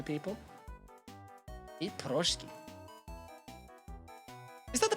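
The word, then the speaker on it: пирожки: Eat Proshki. Is that the pronunciation? Piroshki.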